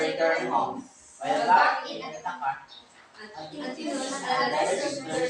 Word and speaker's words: Ithaca: That's Ithaca. The stress is on the first syllable. Ithaca. Follow after me. Ithaca. Ithaca.